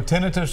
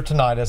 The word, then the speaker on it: tinnitus: seven calls so so tinnitus or tinnitus actually both are correct pronunciations is ringing in the